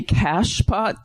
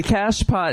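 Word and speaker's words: cachepot: The cash pot. It's spelled C A C H E. I guess it's French. Sounds like it.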